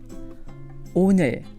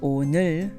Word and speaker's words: 오늘: 오늘, 오늘, 오늘. So by the end of saying the word 오늘, you should find your tongue right behind your upper teeth.